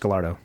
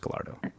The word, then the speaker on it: Gallardo: It is pronounced Gallardo. No way. It is. I know the look you gave me, I knew exactly what you were thinking. It's technically pronounced Gallardo.